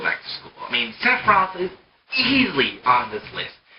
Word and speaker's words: Sephiroth: I mean, Sephiroth is easily on this list.